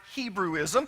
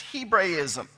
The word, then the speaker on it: Hebraism: You've heard it Hebrewism, but the correct pronunciation is Hebraism.